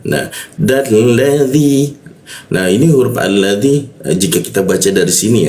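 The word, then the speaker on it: الذي: Ketika ada huruf alif bertemu lam selalu dibaca a. Jadi kalau ada alif dibaca ya butuh alladzi seperti itu.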